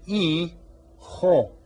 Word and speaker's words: hijo: todos el dijo G here on all of these the H is silent we don't say he Joe the H is silent e ho so the J kind